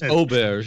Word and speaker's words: auberge: It's auberge, not Albert.